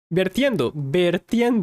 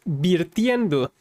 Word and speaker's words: vertiendo: This is a little interesting because in Mexico, a lot of people say, estás virtiendo. They tend to say it like that. Estoy virtiendo. But the actual word is vertiendo.